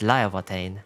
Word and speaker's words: Laevatein: In Icelandic, this would be pronounced as Laevatein.